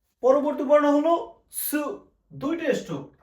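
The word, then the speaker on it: す: সা, শি, সু, সে, সো, তা, চি, সু, সু, তে, তো। এটা হলো সু। সুমন্তর সু। আর এটা হলো সু। আপনার জিভের মাথা থেকে বাতাস বের হবে, সু সু সু।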